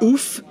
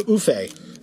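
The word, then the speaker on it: Ouphe: The Oof creatures, I always used to call them Oofe.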